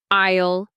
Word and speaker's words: aisle: Isle. Notice the word. The S is silent.